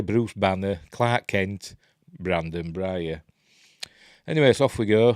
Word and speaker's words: Breyer: I always thought I'd have pronounced it Breyer, but in the film they pronounce it Breyer.